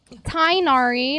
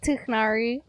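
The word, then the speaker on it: Tighnari: Tainari, not Tiknari.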